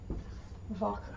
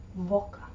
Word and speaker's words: Woche: Woche, which means week. Woche. And of course the W is pronounced as a V in the German language most of the time, not 100% of the time. Woche.